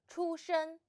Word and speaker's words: 出生: The word of today is 出生. In this video, I will teach you how to pronounce it, how to write it, and how to use it.